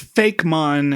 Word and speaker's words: Fakemon: Well, it's Fakemon, and I just feel like I have to pronounce it closer to Pokemon.